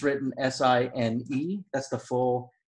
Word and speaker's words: sine: And usually it's written S-I-N-E. That's the full name, but we abbreviate it S-I-N. But it's not pronounced sin. It is sine.